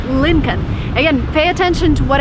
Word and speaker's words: Lincoln: attention to what I'm saying here is not Lynn calm the way it's written there is an L before n when you actually pronounce it you say Lincoln the second thing you have this car